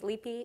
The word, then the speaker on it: Leaphy: I always say this, I said my name is Leaphy, it rhymes with sleepy, just take out the S.